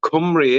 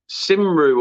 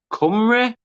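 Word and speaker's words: Cymru: room but it's it's said as uh like comrie in it or something like that was a bit weird you know it's bad when whales have their own language and half of the people in Wales don't even speak the Welsh language yeah that's what I mean that's I understand the spelling of it and you think like simru or you know but comrie or you know I like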